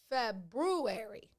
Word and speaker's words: February: uh february february february there's an r there february not february yeah come on y'all how